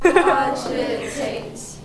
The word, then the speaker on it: cogitate: Cogitate. There are three syllables and the first syllable.